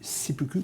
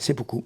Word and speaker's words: seppuku: Mishima qui pratiqua le seppuku, comment on prononce? Seppuku.